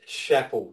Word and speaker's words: Schapel: In fact, it's Schapel, like you pronounce it like apple, not like propel.